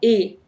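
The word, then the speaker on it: et: بياخد ايه اي تي الاي تي دي بتتنطق اي طب دي معناها ايه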